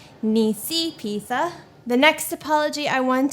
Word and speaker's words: Nisipisa: give two apologies one to Niecy pizza I mispronounced her name in the last video its Niecy pizza the next apology I want to give is